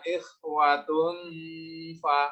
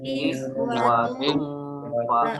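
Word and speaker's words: إِخْوَةٌ فَ: Ada domah tanwin ketemu dengan huruf fa. Ya. Tanwin bertemu dengan huruf fa. Ini hukum bacaannya ikhfa hakiki. Cara membacanya dengan cara samar-samar.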